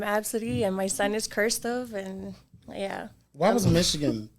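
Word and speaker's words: Qrstuv: with this name and it's q-r-s-t-u-v and it's pronounced cursive cursive and I was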